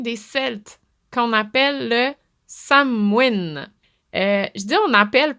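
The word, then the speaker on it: Samhain: fêté le samwiin moi il y a des gens qui disent Sam mè mais phonétiquement bon bref il y a toutes sortes de toutes sortes de de façons de le prononcer moi je le prononce samwin alors voilà je vous l'annonce ceux qui ont les oreilles qui frisent là ben je suis désolée mais moi je dis j'ai toujours dit samwin alors le samwiin c'est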